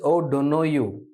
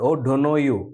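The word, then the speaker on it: O'Donoghue: o don't know you this is an Irish word okay it's an Irish word oh don't know you that's the correct pronunciation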